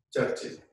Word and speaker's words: Churchill: es de Brown y Churchill, o Churchill, pronunciémoslo un poco mejor, Churchill.